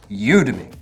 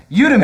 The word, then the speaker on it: Udemy: It is Udemy. It's Udemy. I finally figured it. So it's like Academy, Udemy. Udemy.